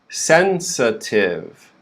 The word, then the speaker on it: sensitive: first syllable sen and then the second syllable we have the schwa the upside down is so we go from sensa sensa and then we finish the word with tiv sensitive sensitive notice the syllable with the schwa is very quick right sensitive okay now